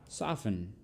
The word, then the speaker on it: soften: Don't pronounce the T in these words.